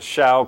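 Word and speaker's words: xiao: This is a shao called it's spelled X-I-A-O.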